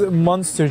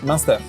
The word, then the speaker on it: Munster: What is monster cheese? Oh, okay. So How do you pronounce it? Munster.